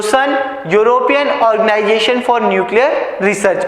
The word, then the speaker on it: CERN: और आप इसे क्या, इस European organisation for nuclear research इसे प्रोनाउंस कैसे किया जाता है, फ्रेंच में सन, CERN।